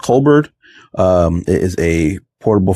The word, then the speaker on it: Colbor: So, today we are checking out I believe it's pronounced Colbert.